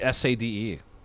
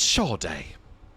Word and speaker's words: Sade: Who makes their name Sad, but then pronounce it Shaw Day, please. It's Shaw Day.